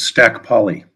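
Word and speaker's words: Stac Pollaidh: sonia for the beautiful poem uh the correct pronunciation is stack poly echo of stack poly from the ragged summit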